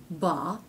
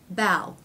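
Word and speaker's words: bough: B but it doesn't it's not pronounced ba it's pronounced bow okay so the a vowel changes to the AL diff thong bow bow okay what would happen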